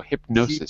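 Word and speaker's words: Hipgnosis: Because the GN is, you don't pronounce the G. The G is silent. So because like Gnostic is with GN. So hypnosis.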